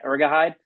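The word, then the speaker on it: Urhoghide: Is that how you pronounce? Yeah, Ergahide.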